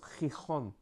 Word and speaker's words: Gijón: Mais en asturien, ils le prononcent comme un X, donc c'est un X, I-X-O-N. Donc là, derrière, ça prononce Gijón.